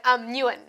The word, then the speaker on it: Nguyen: Okay, so the G is silent because there's a G there, isn't it? Yeah, so if you can imagine it spelt like, in your mind, you can spell like Newin, so Nguyen.